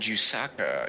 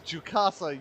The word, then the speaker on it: Jukasa: Brandon Reigns won at Martinsville, Greenville, Pickens, and Jusaka. Short track master. Picasa. It's Jukasa. You spelled it and said it wrong now.